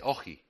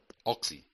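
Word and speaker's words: όχι: Eh, en griego de sabemos que el que no se dice oji, oxi, oji, que el oxígeno es aquello que permite oxidar la vida, es el consumo de la vida para un bien superior.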